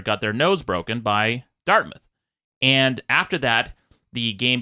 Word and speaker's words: Dartmouth: It's Dartmouth, right? Is that how it's pronounced?